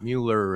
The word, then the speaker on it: Mueller: And I know that there's um a correct pronunciation of Miller, but everybody calls it Mueller, and so that's what we're going to do.